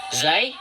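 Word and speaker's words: زاي: Nah, Zai mudah diucapkan, sama seperti huruf Z dalam alfabet.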